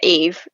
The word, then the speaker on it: Yves: honestly started as Aya Eve, because like Yves Saint Laurent, they just say Eve. It's the French spelling. Yeah. And then people just started saying Eves, and I was like, I actually really like it.